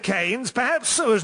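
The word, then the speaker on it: Keynes: Like all good, charismatic, bisexual men, there are two ways to pronounce his surname. But he himself Bowie Bowie. But his always said canes perhaps so as not to be associated with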